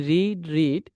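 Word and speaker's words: read: এটা উচ্চারণ করার সময় আপনাকে উচ্চারণ করতে হবে এইরকম, রেড, মানে পাস্টে যখন উচ্চারণ করবেন তখন রেড হবে।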